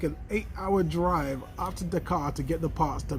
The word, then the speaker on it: Dakar: the parts are in the car, or Dakar, if you're using proper pronunciation.